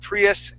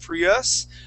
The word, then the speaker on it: Prius: in that word saying Prius um uh the word is actually Prius so we're going to give that Accent on that I okay Prius try that